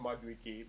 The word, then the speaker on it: Maduike: Maduike is low on health. It's actually pronounced Maduike because that's actually a Nigerian name.